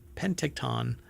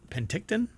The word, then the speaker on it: Penticton: located in uh pent is it pent how do you pronounce that Penton uh BC or P Penticton Penton there you go I guess so that's